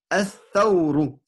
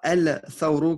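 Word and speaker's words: الثَّوْرُ: As-thawru. Voilà. Et non pas el-thawru qui est une erreur. Donc, as-thawru. OK? Ouais, on prononce pas le lemme alors là.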